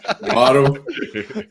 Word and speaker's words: Waddle: But is it rhyme with? No, it does not. It rhymes with coddle. Okay. Waddle.